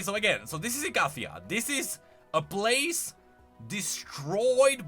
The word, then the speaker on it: Icathia: All right, and now we are approaching Icathia, which should be pronounced Icathia, but I'm never gonna change that because I've been pronouncing this for like 15 years.